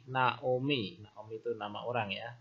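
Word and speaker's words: נעמי: Contohnya, ini huruf nun, N, kemudian vokal A, na, kemudian ayin, silent letter, kemudian vokalnya O, na O, kemudian mem atau M, vokal I, Naomi.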